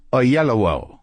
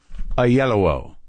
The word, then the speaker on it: Oyelowo: bit of video to make sure I knew how to pronounce it a yellow David a yellow okay so he's on